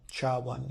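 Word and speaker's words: SHA-1: you might hear sha1 Char 1 is how it's pronounced and that is 160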